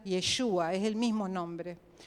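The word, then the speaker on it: ישוע: Saben que la palabra Josué y Jesús en hebreo se pronuncia Yeshua, es el mismo nombre.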